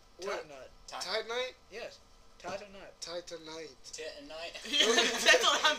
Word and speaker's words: Titanite: Titanite. Titanite. Titanite. That's what I'm thinking. What did he say? He said Titanite. Well, after being told by multiple characters in the game that that's how it's pronounced, I'm pretty sure.